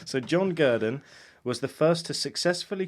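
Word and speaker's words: Gurdon: in 1958 John gurden spelled like Gordon but with a u instead of no right so John gerden was the first to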